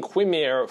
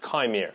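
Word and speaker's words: Qimir: disappointed this week we didn't get to see Chimere, and yes, that is his name. I've been saying Quimere for many weeks now because it's spelled with a Q, but apparently it's pronounced Chimere, so apologies to everyone I offended because of that.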